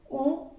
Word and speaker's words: on: Tenemos je, tu, je, tu, il, elle, on, porque la O con la N se pronuncia como una O.